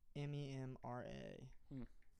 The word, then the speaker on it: Memra: M-E-M-R-A. Memra is an Aramaic. Okay, I think that's how you pronounce it.